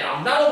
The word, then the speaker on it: 람다: 그냥 그림을 봤을 때 파장이 어디를 가리키는 용어다 정도 알고 계시면 되고, 그 파장이라는 단어를, 용어를 기호로는 시읒자 뒤집은 모양으로 쓰고 발음할 때 람다로 발음을 한다는 사실까지만 알고 계시면 충분할 것 같아요.